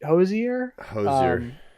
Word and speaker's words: Hozier: how to say his name it's it's Hoge Hozier yeah he he does a song called The